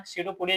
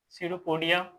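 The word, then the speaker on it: pseudopodia: सडोपोडिया जिसको बोलते हैं। इसमें पी साइलेंट होता है। सडोपोडिया।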